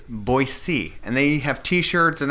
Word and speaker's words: Boise: we even asked some of the locals, it's Boise. And they have t-shirts and other things, magnets to remind people it's pronounced B-O-Y-C, or S-E-E, essentially, Boise.